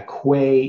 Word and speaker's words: Quay: volumes was destroyed okay so it should be pronounced key I guess I'm that's